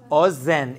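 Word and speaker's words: אוזן: say ear in Hebrew o Zen in the singular o Zen is how you say ear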